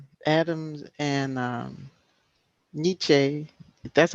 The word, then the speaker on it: Nietzsche: that for some reason adams and um nietzsche that's how you pronounce it nietzsche nietzsche uh-huh we're stuck on